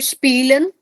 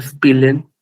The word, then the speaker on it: spielen: So you have to pronounce it as E.